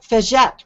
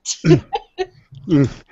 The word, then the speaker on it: Fegette: I'm going to say it wrong. Fegette, right, Scott? That's great. It sounds very French to me. Scott It is. Fegette.